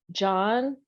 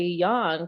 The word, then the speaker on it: Jahn: so I have um there are many ways to pronounce my various names which is John some people like in the art World a lot of times people say young because they are more familiar with German but it actually comes